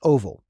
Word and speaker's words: OVAL: The first one we have is OVAL, which is pronounced OVAL.